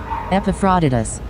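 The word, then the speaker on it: Epaphroditus: a lot going on in the background epifodus. All right that's how you pronounce it.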